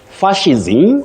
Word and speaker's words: fascism: pronunciation fism or but you don't say s you say sh fascism or fascism then